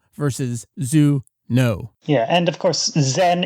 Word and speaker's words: Zuno: In addition, there's the completely unrelated character Zuno, right? Who in that case it's Zu and then No.